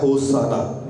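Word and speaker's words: hosanna: होसाना जब हम उसे इकट्ठा बोलते हैं वो प्रोनाउंस होता है होसाना।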